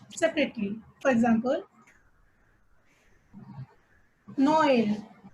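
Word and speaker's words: Noël: For example, Noel, Noel. In this, there is a trema over the letter E, so O and E need to be pronounced separately.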